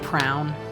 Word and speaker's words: prion: It's pronounced prown. Oh, I pronounce it prain.